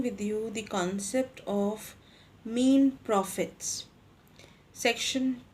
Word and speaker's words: mesne: will be discussing with you the concept of mean prophets section 2 surplus 12 of cpc many of you or many people in the legal fraternity they pronounce it as misnei prophets but that is a wrong pronunciation it